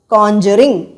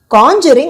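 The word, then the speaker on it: Conjuring: பார்த்த படம் இந்த காஞ்சரிங் உங்களுக்காக இன்னொரு இன்னொரு தடவை உச்சரிக்கிறேன் கான்ஜூரிங் கான்ஜூரிங் அப்படின்னா இயற்கை விதியை மீறி மேஜிக் ட்ரிக்ஸ் பண்றது இதுவே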